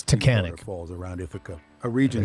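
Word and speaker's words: Taughannock: But people don't jump off and no one knows how to pronounce it. It's Takahan falls around if a region shaped melting glacial ice.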